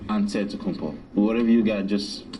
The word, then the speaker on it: Antetokounmpo: the kumbo's last name he helped set the record straight of how you pronounce it way you gotta say with the d so it's a deadpool but in the greek way you say with the nt like antetokounmpo whatever you got just